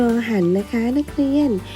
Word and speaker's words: รร: รอ ห่าน นะ คะ รอ เรือ 2 ตัว เขียน ติด กัน อ่าน ว่า รอ หัน นะ คะ นัก เรียน